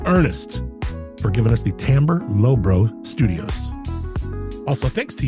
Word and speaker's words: Timbre: Timbre. Yeah, look it up. It's pronounced that way.